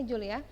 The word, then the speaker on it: Joule: energi Tuhan yang satunya Julia menjadi satuan dari kalau adalah Joule tulisnya Joule bacanya Jul disimbolkan dengan huruf besar